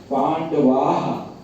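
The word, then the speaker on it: पाण्डवाः: आह ऐसे नहीं होगा, आहा करके आएगा वो, समझ रहे ना? क्योंकि विसर्ग के पहले आ है तो उसका शुद्ध उच्चारण है पांडवाः।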